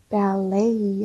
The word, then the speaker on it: ballet: 그래서 발레이 하셔야 되죠. 발레이. 끝소리가 A 발음이에요. 발, 발. 레이, 발레이. 첫 소리는 블랙 발음. 이렇게.